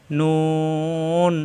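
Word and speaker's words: نون: কি মিম দুই থেকে উচ্চারণ নুন জিব্বার আগা উপরের তালুতে লাগিয়ে নুন নুন নুন নুন এরকম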